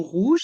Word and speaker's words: rouge: Dans le mot rouge, il y a le son OU. Rouge avec les voyelles O et U.